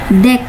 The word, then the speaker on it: deque: Deck. Nah, nah ini yang secara fonetik itu deck itu diucapkan sebagai deck.